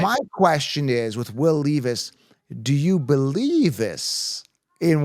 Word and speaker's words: Levis: Do you believe us and Will Levis?